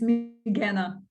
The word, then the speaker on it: Migana: Is it Magina? Is that how you say it? I was just on It's stage with not. Magina. Oh, say it again. It's Migana.